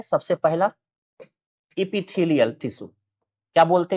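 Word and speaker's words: epithelial: है आपका वो आपका आता है सबसे पहला एपिथीलियल टिश्यू क्या बोलते हैं इसको इसको हम बोलते हैं एपिथीलियल एपिथीलियल बोला जाता है इसी को हम लोग एपिथीलियल टिश्यू को एपिथीलियम के नाम से भी जानते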